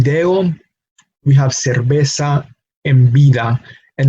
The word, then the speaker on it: cerveza: cerveza and bida and notice how the pronunciation of of the letter B is as if we were pronouncing the letter B no liberal Banco by d'Alene same pronunciation as as V so V and B in